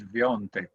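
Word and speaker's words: Świątek: It's written in Yeah, this way, Swiatek, but it has to be pronounced as Sviontek. I was told by a Polish guy.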